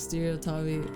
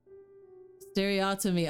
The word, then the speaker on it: stereotomy: What the hell is Stereo Tommy? Or how do you pronounce it?